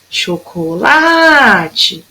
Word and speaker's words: chocolate: A mesma coisa no chocolate. Eu vou chamar a palavrinha chocolate. Então, o lá foi a que durou mais tempo. Então, o lá é minha sílaba tônica.